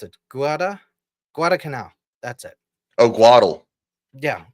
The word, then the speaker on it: Guadalcanal: I don't know how to pronounce it. Guadalcanal. That's it. Oh, Guadal. Yeah, Guadalcanal.